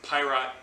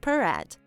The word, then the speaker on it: Piraat: the company that makes it it's fantastic it's pyrot ale it's very very good and that's a p-i-r-a-a-t yes you will not spell it pirate um unless you want something else